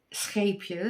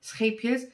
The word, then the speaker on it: Scheepjes: This is actually from a Dutch brand, Scheepjes, is how you pronounce it, Scheepjes, which actually means little ships, and it's actually their logo.